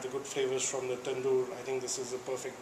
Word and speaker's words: tandoori: Yesterday I had the opportunity to try different fish courses, Indian, and I would suggest help me if I'm wrong with the pronunciation, tandoori.